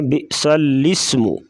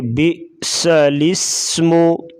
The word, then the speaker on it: بئس الاسم: گا بسطتن۔ بئس الاسم، بعض لوگ پڑھتے ہیں بئس الاسم، سین کو لام کے ساتھ ملا جاتے ہیں، تو ایسا نہیں پڑھنا چاہیے، بلکہ بئس الاسم۔ او یعفو، او یعفو۔